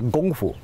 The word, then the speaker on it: kung fu: Lee, The Green Hornet, because it was Cantonese, the K sound is pronounced like a G sound, say gong fu.